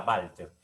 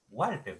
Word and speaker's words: Walter: se vean así válter el originalmente sería válter pero cuando esto pasa el español fono lógicamente fono lógicamente o fonéticamente como quieras ver vamos a ponerlo fonéticamente ya como se escribe la palabra valters en alemán ex válter pero para nosotros en español es igual walter si está bien pronunciado entonces acá si te